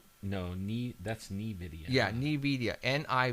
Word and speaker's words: Nvidia: was put there by this company and the pronounce Nvidia n Nidia Nvidia huh Nvidia Nvidia okay that